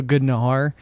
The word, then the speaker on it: gnar: Because like we're pronouncing the G. The G. In like, gnarly. In gnarly. Yeah, like you've taken gnarly and then you've abbreviated it down to gnar, and then you've also thrown the G back into pronunciation.